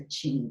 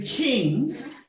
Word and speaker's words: Qing: it's ruled by the Qing dynasty. Hu in the current Chinese romanization. Q is pronounced Chu.